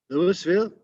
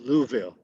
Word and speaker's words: Louisville: kale by the way the r is not pronounced by the locals so it's ko pittsburgh uh and lewisville no that's called louisville louisville louisville if you're really a good uh